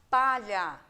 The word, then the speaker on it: palha: Eu tenho a palavrinha palha. Observem aqui o LH. Então, embora eu tenha duas letras, eu vou estar pronunciando um único som.